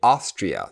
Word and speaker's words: Austria: Et on a l'Autriche qui est Austria sur la première syllabe.